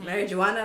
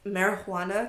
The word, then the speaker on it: marijuana: And calling it marijuana, because like, there's a J, and obviously J is silent because, you know, it's in Spanish, and we turned it into H.